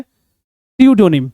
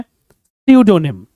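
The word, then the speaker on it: pseudonym: इसका मतलब होता है नकली, बट इसका करेक्ट प्रोनाउंसिएशन होता है स्यूडोनिम। पी साइलेंट होता है, स्यूडोनिम।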